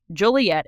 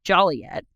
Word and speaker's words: Joliet: apparently the supply sergeant pronounced it wrong it's pronounced Joliet and he says it's Joliet and there's a lot on the books that